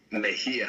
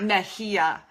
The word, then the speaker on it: Mejia: Mejia. Mejia.